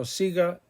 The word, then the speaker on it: siga: sound go go ga but if the i or the e comes after the g it's pronounced he or hey so siga is what we want don't